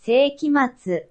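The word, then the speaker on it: 聖飢魔II: Seikima too. That's who it is. Say me trying to pronounce it. Obviously in Japanese. Seikimatsu.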